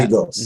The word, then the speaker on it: Lagos: From Lagos, you pronounce it for me, to where? Lagos. Now, yeah. Lagos.